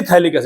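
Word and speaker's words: phthalic: बोलते हैं भैया इसको हम इसको बोलते हैं थैलिक्स इड प थैलिक्स इड मत बोल दि इसमें इसमें पी साइलेंट है ठीक है कौन सा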